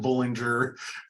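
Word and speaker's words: Bollinger: at the Expo is you actually pronounced your name bowling or is that correct yeah I say yes that that's how we pronounce it it it is funny because there's even other people in our own family that pronounces it Bullinger so there really is no wrong way it's just the way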